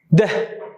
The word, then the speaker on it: deh: Try to pronounce like as I pronounce, try to imitate my sound actually. Deh, as we've seen, deh.